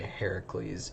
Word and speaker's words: Heracles: uh but so just know when I say Heracles it I mean Hercules um so don't get